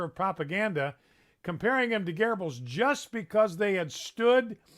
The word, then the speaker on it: Goebbels: the pronunciation it's pronounced garbles it looks like goebbels but it's not it's garbled but that's